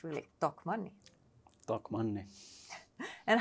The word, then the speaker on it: Tokmanni: other channels as well how you pronounce it correctly in Finnish and it's really talk money Talk Money and how